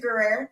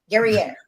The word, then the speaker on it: Guerrier: Guerrier. Did I say that right? No, I didn't. Guerrier. Guerrier. Guerrier. I apologize. I tried to ask you before. It rhymes with Perrier to make it easy.